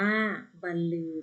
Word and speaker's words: บรรลือ: ว่า ว่า บันเทิง หมอ บรรลือ อ่าน ว่า บันลือ ตัว นี้ แปล ว่า